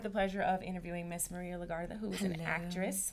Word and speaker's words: Maria Legarda: And today, I have the pleasure of having Miss Maria Legarda. That's how you have to say her name. When you say her name, you have to roll the R. Maria Legarda.